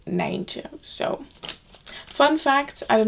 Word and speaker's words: Nijntje: They're called Nijntje. But that's of course quite difficult to pronounce for English people, so in English it's Miffy, but in the Netherlands originally it's Nijntje.